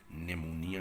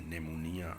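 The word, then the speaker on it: pneumonia: एक का नाम है ब्रोंकाइटिस, एम्फीसीमा, नेमोनिया, पी साइलेंट है इसमें, नेमोनिया, आस्थमा, दमा जो है, लंग कैंसर है।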